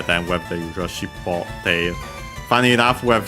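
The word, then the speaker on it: 尻尾: Shippo is, by the way, accented on the last mora.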